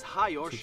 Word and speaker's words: Hajos: 1.5 out of 5, the name is Hajos, that's how it's pronounced in Hungarian.